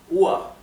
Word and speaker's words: Uhr: Bien, recuerden que la R final se pronuncia como una A. O sea, esto en vez de pronunciarse UR, se pronunciaría UA.